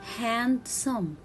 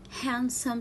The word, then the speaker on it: handsome: it wednesday wednesday and the word handsome i cannot read it handsome no it will be handsome so here we will